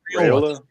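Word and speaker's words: Raiola: Uh uh uh I say his name uh Rally Raola Raayola.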